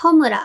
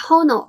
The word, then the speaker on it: 炎: Let’s have a look together now スタートです The name of this song is “Homura” The same Japanese character can be pronounced as “Honoo” as well The two words